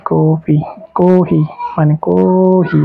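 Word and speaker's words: コーヒー: কি কফি কহি মানে কহি এই যে টান আছে কহি টান দিতে হবে কহি মানে হলো কফি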